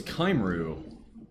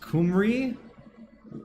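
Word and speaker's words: Cymru: I thought it was Kimu. It's pronounced Kumri.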